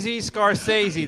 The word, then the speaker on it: Scorsese: Oh, Scorsese.